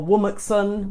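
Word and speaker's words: WOMXN: primarily black British women or wool Maxon which is how I pronounce WOM X n which is women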